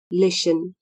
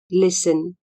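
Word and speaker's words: listen: अथवा ध्यान दिन लाई लिसन एल आई एस टी ई एन लिसन इस माटी silent L आई एस टी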